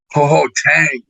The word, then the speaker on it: 好好聽: Ho ho tang, not ting. It's tang.